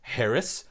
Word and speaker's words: Harris: my last name wrong, it's just pronounced Harris, like Harris.